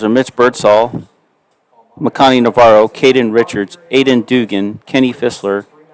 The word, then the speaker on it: Caden: My son's name is Caden, but we spell it C-A-Y-D-E-N, and Caden Richards spells his name C-A-D-E-N, so I keep thinking Cade instead of Caden.